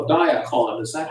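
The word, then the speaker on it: Diakon: Donald has before us a purchase of service agreement with, Donald, I'm gonna call it Diacon. Is that how you pronounce it, to your Yes.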